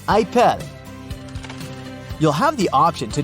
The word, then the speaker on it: Apple: Apple Store except that the French people pronounce it ipel you'll have the option